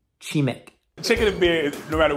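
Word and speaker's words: 치맥: They actually have a word for it called chimak, which is literally chicken and beer combined. Guys, I just realized I absolutely butchered the pronunciation. It's actually pronounced chimek.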